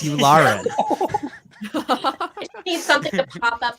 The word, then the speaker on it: Yularen: It's Yularen.